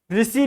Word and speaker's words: ऋषि: ऋषि लिखेंगे ऋषि। तो ऋषि में ऋषि नहीं होता है। ऋषि होता है।